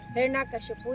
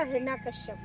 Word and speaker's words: हिरण्यकशिपु: हिरण्यकशिपु या हिरण्यकश्यप दोनों ही बोलते हैं।